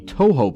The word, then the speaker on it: Touhou: romanization and Japanese words the OU is actually signifying a long o sound so o instead of a short o sound like if you're unaware of the Touhou project it's a series